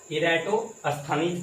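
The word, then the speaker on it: Eratosthenes: खैर इसमें हम प्रोनाउंसिएशन करके आपको बता देते हैं। यहाँ पे इरेटोस्थनीज पढ़ते हैं, ठीक है।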